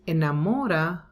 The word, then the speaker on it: enamora: identical sounds again but in this case enamora the stress is immo so we don't say whatever is que sena mora because in amora the stress is in mo not in a like the previous example so here we have